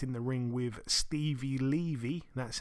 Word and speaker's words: Levy: She stepped in the ring with Stevie Levy. That's how her name is pronounced. She's now 10-3, Stevie Levy, but like I say, unanimous decision over 10-2s for Tycee Gallagher, now 8-2.